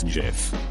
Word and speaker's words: GIF: been shed over this it's Jeff as in Goat hard G I don't care what the shitsuka who created GIF says it's an acronym thus hard G don't be stupid the old GIF versus dumbasses who call it Jiff debate a classic that